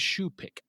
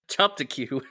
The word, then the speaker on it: choupique: Yes, it's CHOUPIQUE. Somehow, that is shoepick. All right, I will take your word for it. I would have called it a chop-to-cue. Yes, that's pretty much what it looks like.